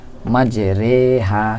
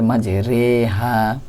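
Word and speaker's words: مجراها: করে এমালা মানে হচ্ছে আমরা জানি যে জের উচ্চারণ অস্বীকারের মত হয় কিন্তু এখানে একারের মত করে পড়তে হবে মাজেরেহা কোরআন শরীফে এক জায়গায় আছে এটা এটা আমাদের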